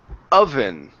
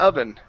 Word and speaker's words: oven: here at the word oven alright so instead of Oh oven okay this is an ah sound at the beginning of anais job so